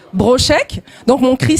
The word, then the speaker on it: Brochec: Bonsoir tout le monde, je suis Chris Brochek, donc mon Chris s'écrit K-R-I-2-S et Brochek, B-R-O-C-H-E-C.